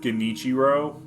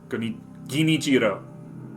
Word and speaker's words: Genichiro: Like, to I'm pretty sure he said Genichiro, which is not that guy, which is not how you pronounce that. I think it sounded like that, like the way. And so it's Genichiro. It's Genichiro, which sounds almost the same.